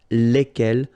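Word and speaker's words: lesquelles: And the good news is that phonetically it's lesquels here for the masculine form and then lesquels for the feminine form. All right, so phonetically it's exactly the same when we talk about the plural form here, but then if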